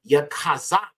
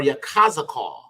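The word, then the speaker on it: יחזקאל: is Ezekiel all right now this will be pronounced Yakaz or Yak kazak okay which means ala will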